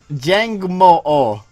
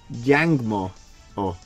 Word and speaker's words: Jangmo-o: In Tagalog, which is the language of the Philippines, two letters back to back, you don't even need to put the hyphen between them. They would pronounce it o-o. But I suppose in trying to keep Pacific Islander style language from being... he might have been called Jang Mu if they didn't put the hyphen in there, because people don't